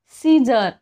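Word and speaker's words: scissors: म्हणजे देखावा किंवा दृश्य सीजर इथे सुद्धा बघा सी चा उच्चार नाही होत आहे मसल्स म्हणजे काय स्नायू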